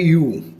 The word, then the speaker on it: ewe: सो जैसे पहला वर्ड है यू, EWE, यू भी बोलते हैं, मतलब अलग अलग इसकी प्रोनाउंसिएशन है।